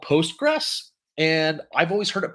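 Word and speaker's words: PostgreSQL: see what but yeah so it's post gray sql um the people i worked with they called it postgres i would love to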